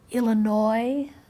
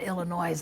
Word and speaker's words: Illinois: Illinois, I used to pronounce the S on Illinois, and my older brother corrected me, and after that, if some kid in school said Illinois, I'd go, ah!